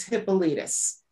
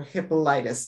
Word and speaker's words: Hippolytus: He was also during Irenaeus, and Tertullian comes into the picture, as well as Hippolytus, or Hippolytus, depending on how you want to pronounce that.